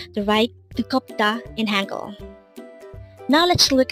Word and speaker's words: 뜨겁다: 뜨겁다. Again, it's 뜨겁다. This pronounces a three-syllable word. The first syllable is 뜨, second syllable is kop, and third syllable is da. Pronounce it with me. 뜨겁다.